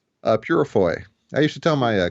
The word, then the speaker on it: Peurifoy: do it right yeah and how do you pronounce your last name uh purfoy I used to tell my classes uh my